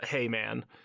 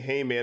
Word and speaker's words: Hayman: by the way but Heyman is spelled h a y m a n so Heyman but it doesn't stand for hay as in like bales of hay it is a an